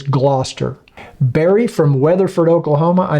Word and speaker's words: Gloucester: I actually had to look up how to pronounce Gloucester because you think it's going to be pronounced Gloucester, but it's not. It's Gloucester.